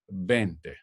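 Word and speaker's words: veinte: is been T remember in English vein Tay is the V sound but in Spanish it's a very soft be bent bent a so let's go ahead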